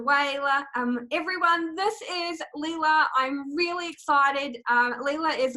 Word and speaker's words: Leila: thanks Lee um yes so my name is Lila and it is mispronounced all the time I lurked and bound